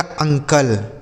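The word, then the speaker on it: uncle: आगे लिखा अगला तरीका है बच्चों कि अगर किसी भी शब्द के शुरू में यू लिख दिया हो। क्या लिखा हो मेरे भाई? शुरू में यू लिख दिया हो, तो इस यू का उच्चारण हम आ के रूप में करेंगे। किसके रूप में मेरे भाई? अ। यहां पर भी आ पढ़ा जाएगा। जैसे यू एन सी एल ई तो इसे पढ़ा जाएगा अंकल।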